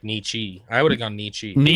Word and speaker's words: Nietzsche: Nietzsche. I thought it was like Nietzsche.